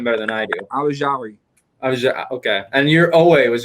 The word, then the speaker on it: Ojulari: Ojulari.